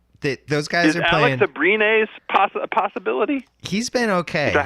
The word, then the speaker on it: Abrines: Alex Abrines a possibility? He's been okay. Is that how you say it? Yeah, Alex Abrines.